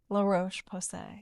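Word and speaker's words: La Roche-Posay: Lar Ro Pose.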